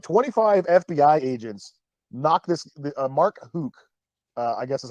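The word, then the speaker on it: Mark Houck: So like 25 FBI agents knocked this Mark Hook, I guess is how you say it, or Hauk. Mark Hauk is how you say his name.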